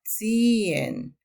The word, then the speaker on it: ziehen: Pero cuando va entre vocales, bueno, diría yo, después de vocal, no se pronuncia y se convierte en una vocal larga, ziehen.